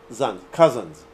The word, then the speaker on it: cousins: So you just pronounce it cousins. There is no T.